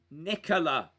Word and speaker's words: Nicola: right nicholas says guys in italy the name nicola is pronounced nicola and it is a